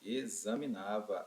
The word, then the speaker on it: examinava: que em examinava pessoal examinava é como se esse x tivesse um som de z não é mesmo é